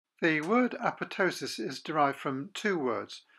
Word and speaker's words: apoptosis: And it also explains why apoptosis is pronounced apoptosis and not apoptosis.